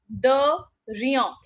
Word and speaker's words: de rien: Write down the pronunciation. De rien.